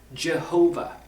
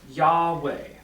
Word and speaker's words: YHVH: Now, the name of God, YHVH, is often pronounced in English as Jehovah or Yahweh.